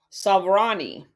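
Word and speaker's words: Souvarine: also to rely on the networks of Boris Savani and I'm going to spell that last name s o u v a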